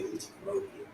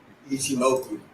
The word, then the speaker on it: Ichimoku: Because I used to say T-Motive. I know that's wrong. How do you say it? Ichimoku.